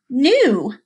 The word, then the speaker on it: knew: look at this one if we cover up that silent K knew like oh I'm getting